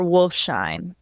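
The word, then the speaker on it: Wolfsheim: the last name, but Meer, how do you pronounce Wolf? Meer Wolfshine. Wolfshime.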